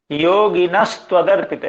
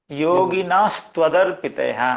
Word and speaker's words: योगिनस्त्वदर्पितेः: योगी न त्वदर्पिते हा, योगी न त्वदर्पिते हा, योगी ना आप शायद उच्चारण कर रहे हैं, मुझे ऐसा जो सुनाई देता है। योगिनस्त्वदर्पितेः पुरेह भूमन् बहवोऽपि योगिनस्त्वदर्पितेः।